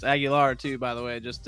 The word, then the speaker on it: Aguilar: was like how do you say your name I was like Aguilar he was like Aguilar I was like yes sir and he's like all right he wrote it out just a pronunciation like that and then the next day in front of like the thousands of people and graduating in front of the Dome he's like aguiler and I was like